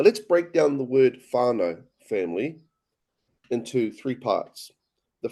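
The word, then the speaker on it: whānau: So actually the MAI word for family is faro and it's spelled wh h a n a u and the equivalent in the Hawaiian word language is orana.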